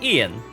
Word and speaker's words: Ian: So, my name is Ian. Starts with an I, pronounced like a Y.